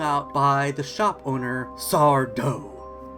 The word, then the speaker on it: Sardo: He gets wrung out by the shop owner, Sardo. No mister! Accent on the dough.